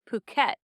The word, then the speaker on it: Puckett: So I have always called myself Puckett, like rhymes with bucket and other things. So when I moved to Washington and I was a certified sommelier and I was working in restaurants, somewhere in there, people started pronouncing my last name Puckette, Oh. like little Puck, Oh. Puckette, instead of Puckett.